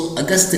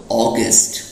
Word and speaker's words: August: और स्टूडेंट्स इसको अगस्त नहीं कहते हैं, इंग्लिश में बोलते हैं इसको ऑगस्ट. ऑगस्ट बोलिए, ऑगस्ट.